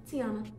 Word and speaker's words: Tiana: And it's pronounced Tiana. T-I-A-N-A.